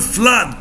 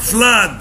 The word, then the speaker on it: flood: هنا بقى شورت او اللي بتتنطق اه. بص الرمز الصوتي بتاعها كده. دي بنقول flood, blood, flood, blood.